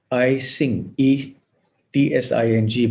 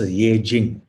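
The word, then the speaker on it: Yijing: was a chinese historian i think they call it i sing ing but i think it's pronounced yejin so there's eight he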